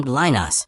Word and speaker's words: Linus: Pope Linus, Greek, Lambda Omicron Linus, pronounced Linus, who died around 80 AD, served as the Bishop of Rome from approximately 68 AD until his death.